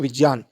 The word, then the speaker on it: विज्ञान: होता है ज तो हम अगर शुद्ध उच्चारण में बोलेंगे तो विजान जो वर्णों के हिसाब से अगर इसको बोला जाए तो विजान शब्द होता है न कि विज्ञान शब्द होता है प्रचलित रूप जो